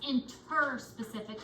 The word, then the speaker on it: interspecific: It's interspecific, not intra.